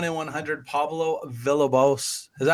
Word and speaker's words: Villalobos: I'll tell you what is real, and that's the 1 in 100 Pablo Villalobos. Is that how you say it? Villalobos. Villalobos.